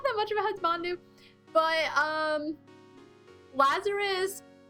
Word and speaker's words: Husbandu: It's because when you get me on the topic of husbandus. By the way, it's talked about how it's not pronounced husbandus. It's actually would be Husbandu, but I pronounced it